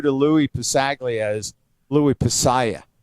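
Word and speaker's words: Passaglia: pronunciation of your name he keeps calling you louis pasaya not possaglia like all the rest of us and and he's realized that i wasn't recording the conversation at all and ha and he says well you know halsey's right but i never want to tell him that and my mom would be very proud that he calls that g is silent like in lasagna he said but once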